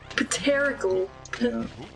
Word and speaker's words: pterodactyl: that's great ptolemy why is the p even there it's not doing anything english is a right